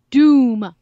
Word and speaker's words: Dume: hiding okay his name his name is caleb dume d um ii but it's pronounced doom I mean that's never